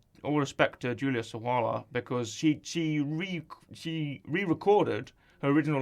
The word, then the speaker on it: Sawalha: of, I don't want to get her last name wrong, Julia Sawala? Yep. I don't want to get that wrong. All respect to Julia Sawalha, because she re-recorded her original lines from Chicken Run, and they were perfect.